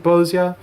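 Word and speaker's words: Bozja: There's some reason to believe that Bozia is based off of Polish inspirations, which is a part of the reason why I pronounce it Bozia.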